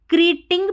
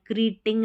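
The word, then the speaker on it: creating: क्रीटिंग नहीं पढ़ेंगे क्योंकि इ ए जो रहता है ना इसका उच्चारण इय भी होता है इसमें क्रिएटिंग में इय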